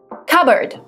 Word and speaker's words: cupboard: Cupboard. The P is silent, so it's not cupboard, it's cupboard. Cupboard is a piece of furniture with doors and shelves.